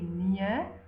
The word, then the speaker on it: nee: Please look how nee is spelled. It is not spelled N-I-E. Okay, N-I-E is nie. It's the word that we use when we are writing in the negative. This, N-E-E, means no.